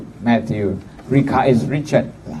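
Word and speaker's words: Mathieu: Matthew is not so spelled like the English, Matthew in French is M-A-T-H-I-E-U, Matthew.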